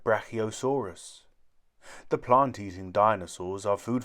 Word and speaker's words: brachiosaurus: its back legs how do you say it brachiosaurus say brachiosaurus in the forest many animals live in forests